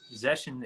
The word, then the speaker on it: Zeshen: my full name in Chinese is three syllables. It's Zeshen. So that's how you say it. And Oh, my okay. last name is. So um Zeshen is just me putting those two together.